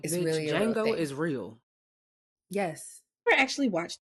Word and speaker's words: Django: it a littleit said Jango you said Django she say Django on purpose I say Django he said the D is silent the D is it